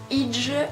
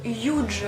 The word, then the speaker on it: hygge: le Huge ou le Huge. Alors pour votre information, ça s'écrit Huge, H-Y-2-G-E, mais on le prononce Huge.